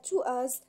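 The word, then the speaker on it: TWS: بليديس للترفيه رسميا ان تي دبليو اس تنطق مثل كلمات الانجليزيه تو ستترسم في يناير المقبل كشفت الوكاله ايضا ان تو از التي تمثل اول فرقه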